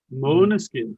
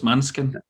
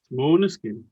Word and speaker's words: Måneskin: Oh, is that how you pronounce it? Måneskin. It's a I thought it was Danish Maniskin. word. I thought it was Manskin. Yeah. Måneskin. Yes, and very atypical, Italy,